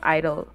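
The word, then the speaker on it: (G)I-DLE: Number one is G Idol, but I think their name is just pronounced Idol from like the few clips that I've seen of them saying it, so I think it's just Idol.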